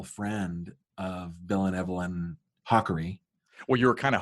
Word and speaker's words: Hakari: that is correct so it is not hiari right it is hawy hawy and now when